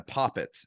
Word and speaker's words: poppet: Okay, yeah, I had a couple like I had a poppet at one time. I believe that's the pronunciation.